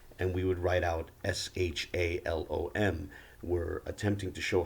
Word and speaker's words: Shalom: to our ancient evidence understood to be pronounced Shalom they would GMs members would say it's pronounced Allah WOM but whatever the case